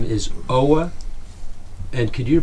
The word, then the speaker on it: Aage: My first name, A-A-G, nobody knows how to pronounce it. And it's just phonetically O-W-A. And Danish people probably pronounce it a little different.